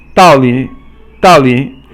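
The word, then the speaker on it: 道理: then 三声, but it's actually pronounced 四声 and then 轻声.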